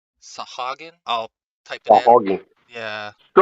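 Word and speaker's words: sahuagin: you say the word for the fish people sahagan sahagan I'll type it in yeah so different to what I Us in my whole life Sagen sahagan I've heard it so many different ways I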